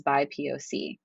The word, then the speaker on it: BIPOC: My pronunciation of this acronym is BIPOC.